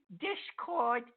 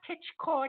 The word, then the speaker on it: Discord: and TT sorry sorry Discord it's not titch cord that was my fault